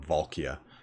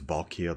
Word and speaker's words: Valkia: uh actually I mean you might actually pronounce that valkia because it's supposed to be a take on a valkyrie so let's read this